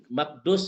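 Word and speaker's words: مكدوس: Betul Bapak Ibu maqdus ya bukan ro saya agak susah bacanya. Ada orang yang ini salah ya mohon izin. Bukan mqdarus tapi maqdus ya.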